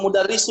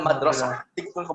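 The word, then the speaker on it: مدرسة: Salah, bukan mudarrisu itu bacanya.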